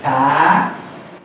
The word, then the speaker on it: ث: এই ৩টা অক্ষর উচ্চারিত হবে জিহ্বার আগা এবং দাঁতের আগা থেকে। সা, জাল এবং জ। সা, জাল অতি পাতলা অক্ষর, আর জটা হলো মোটা ধ্বনি বা ইস্তেআলা।